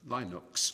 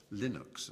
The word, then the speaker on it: Linux: It was known as Linux, or Linux, as some people pronounce it.